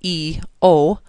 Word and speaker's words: eosinophils: People look at that word and think it's kind of difficult to pronounce, but it really isn't if you just say the first two letters, E-O-sin-O-phils, eosinophils.